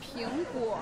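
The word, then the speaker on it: 苹果: Ping'an, because apple in Chinese pronounces as Ping'guo, and Ping'an means safe and sound, so it represents the safety.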